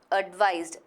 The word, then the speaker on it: advised: Advised. With a z sound, that's how it's pronounced, advised.